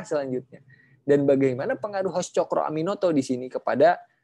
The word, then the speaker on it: Tjokroaminoto: H-nya itu Haji, O-nya itu Umar, karena pada saat itu kalau menulis menulis U itu harus dengan ejaan O dan E kan ya. Jadi kalau C itu T dan J.